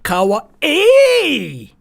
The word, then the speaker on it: kawaii: Kawaii!